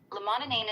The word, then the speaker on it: limonene: But he was making limonene. Limonene. If he was making his own limonene from orange peels and getting really sick toward the end, that's actually concerning. Here's the straight truth. Limonene itself is generally considered safe, but if he